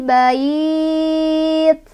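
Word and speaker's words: بيت: Bait ini madlin karena ada huruf lin bertemu dengan huruf yang disukunkan. Huruf linnya ya sukun sebelumnya fathah bertemu dengan huruf yang disukunkan yaitu ta. Ta awalnya kasroh karena berhenti jadi sukun. Cara bacanya dilunakan dan panjang 2, 4 atau 6.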